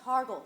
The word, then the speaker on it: Hargle: How many times do I have to tell you it's pronounced Hargle? The I is silent.